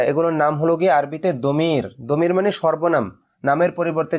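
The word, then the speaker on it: ضمير: দদ মিম ইয়া র দমির তো এটা আমাদের দেশে প্রচলিত আছে একটা গলত মাসর যে দদকে জ উচ্চারণ করা এটা নিয়ে অনেকের সাথে অনেক ইয়া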